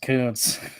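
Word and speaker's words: Kuntz: homophone for that yeah I'm pretty sure it's coons though but anyways um yeah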